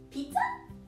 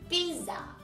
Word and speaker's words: Pisa: Pizza? No, Posie. Pisa. Oh, Pisa.